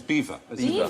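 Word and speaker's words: Belvoir: maning and bottom is Bel the bottom is beaver beaver the veil of beaver I am going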